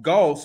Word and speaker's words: Gauxst: you this it's pronounced Goss but why why'd you spell it like ghosts is it spelled like ghosts yeah g-a-dos I thought the aux make an o sound oh really see yeah